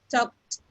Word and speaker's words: talked: We talked. Talk. Remember, it's like a Okay. T sound. Talked.